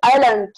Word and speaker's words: island: So, the word island, the word is pronounced as island. And here, the S sound is silent while we listen.